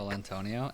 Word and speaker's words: Colantonio: I'm just waiting to hear his name actually pronounced by somebody, and it's totally not that. It's like Colantonio.